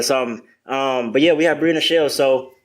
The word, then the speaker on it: Bria Nachele: Today we have, you gave her, a great intro, but we have Bria Nachele. Just found out that's how her name is pronounced.